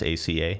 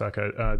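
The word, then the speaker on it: ISACA: and aisaka it said how you pronounce it is ACA mm-hmm nice akka there's also a G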